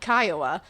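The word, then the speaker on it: Kiowa: Clearly saw that it said heard that it said Kaioa. But you know how when you've pronounced something in your own head too many times wrong, negates it. Even after you hear the correct pronunciation, you just say, "So, I fell into that and I apologize, but it's the Kaioa tribe.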